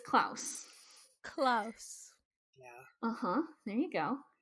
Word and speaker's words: Klaus: a big storm coming they're doing it for Klaus like oh it's Klaus sorry